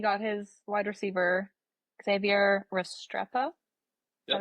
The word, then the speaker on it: Restrepo: Well, we talked about he got his wide receiver, Xavier Restrepo.